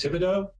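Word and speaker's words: Thibodeaux: Oh, it was the correct pronunciation is Thibodeau.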